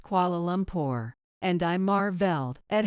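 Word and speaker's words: Kuala Lumpur: when I grow up flight to qual lumor Lucas would shout running around with his tour airplane full of energy even Amy would correct him it's pronounced qualum poor and I marvelled at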